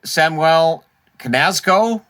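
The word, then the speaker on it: Samuel Knazko: depth picked up by pittsburgh today uh samuel samwell canasco is how they pronounced it uh defenseman columbus pick columbus got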